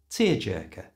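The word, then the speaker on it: tearjerker: was a tear jerker to pronounce this properly replace that e sound at the end with the little uh schwar sound so it's tear Jer tear jerker you try it was a tear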